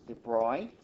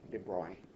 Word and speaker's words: de Broglie: so today we're going to talk about the debroy wavelength the boy waves this thing I hear is pronounced debroy in my earlier videos i may have pronounced